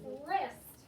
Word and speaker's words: wrist: our first one is wrist we know it's safe for wrist so it has a silent w so w r is